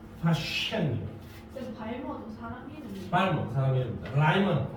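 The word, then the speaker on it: Paschen: 쉐 입술 움직이지 않고 발음해. 파셴이에요.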